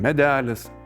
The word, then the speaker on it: medẽlis: On the second one, for example, medẽlis “a small tree”.